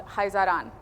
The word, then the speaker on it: Khazaran: particular pattern is called Haan so it's KH but it's pronounced with a guttural h pronounce it however you